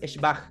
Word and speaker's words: schwach: Lo único es que recuerden, schwach, aunque no lo parezca, el adjetivo es schwach y es una sola sílaba que tiene una sola vocal y un umlaut.